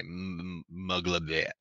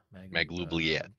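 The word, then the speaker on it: Maglubiyet: You can have good and then you have your traditional like Forgotten Realm ones that were influenced by Muglabet.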